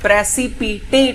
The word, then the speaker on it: precipitate: प्रेसिपिटेट इसका pronunciation है।